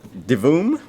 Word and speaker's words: Divoom: know what it is it is a uh d voom devoom that's how you pronounce it uh it's one of those pixel